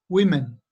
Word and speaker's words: women: How can O be pronounced E? So that O there is in words like this. How is the O pronounced there? We, right? Women.